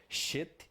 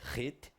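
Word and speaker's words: חית: Vai representar o V, o Zain, o Z, o Ret, CH, não se esqueça, não pronunciar Shet, é Ret, o Teit, o T,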